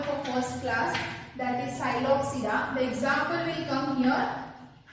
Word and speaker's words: Psilopsida: See the names, pronounce it Psilopsida. Here P is silent, in how it is in pteridophyte, P is silent.